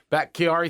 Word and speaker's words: Bakhtiari: Bakhtiari, however you pronounce his name. Bakhtiari, thank you.